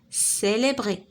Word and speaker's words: célébrer: Célébrer. La récolte هنا نطقناها ك. Caftan هنا C نطقناها ك. Coiffure C نطقناها ك. D'accord? بحال هكا. Dans célébrer, C se prononce S.